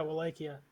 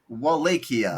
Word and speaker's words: Wallachia: So, boys, would you rather be impaled for being porn stupid, or be an Ottoman soldier invading Wallachia? Is that how you pronounce it? Yeah, Wallachia. Wallachia.